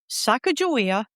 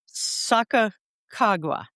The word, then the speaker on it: Sacagawea: So the the Northern Shoshone say Sacagawea with a J. The Hidatsa say Sacagawea with two Ks. And then there's another version which is Sacagawea with a G instead of a J.